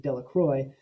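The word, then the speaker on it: Delacroix: dickie de la quad the villagers pronounced his name de la croix eventually made a great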